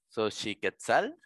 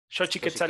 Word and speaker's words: Xochiquétzal: haber recuerdo aparecen para ti en ti vale xochiquétzal es correcto del amor y de las flores muchas gracias siguen sacando ventaja no importa pero ha sacado guau impresionante pero sí que salgo como xochiquétzal es característica bueno ya lo pronunció xochiquétzal nos